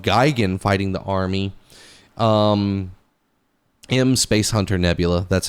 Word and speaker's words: M Space Hunter Nebula: Um, M Space Hunter Nebula, that's how it's said, by the way.